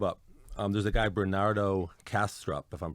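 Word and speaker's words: Bernardo Kastrup: the first tab up um there's a guy Bernardo castrup if I'm pronouncing it right that's right and uh I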